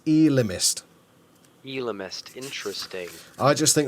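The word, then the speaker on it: Ellimist: And also, how do you pronounce the man in blue in this episode? The Elimist. Apparently, according to this, it's Elimist.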